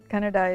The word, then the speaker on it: Kannada: Kannada is the same as Canada, but spelled with a K.